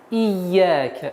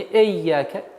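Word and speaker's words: إياك: Не эйяка. И. Ияка. Четкое и ясное произношение звука и. Ия. Теперь нужно обращать внимание, чтобы звук «я» удваивался. «Ия». Не перестараться «ия», а нет. «Ия». «Ияка». «Ия» ударение в размере двух огласовок.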